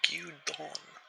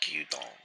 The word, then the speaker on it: gyudon: And by the way, for dinner I made some gyudon. I think it's pronounced gyudon.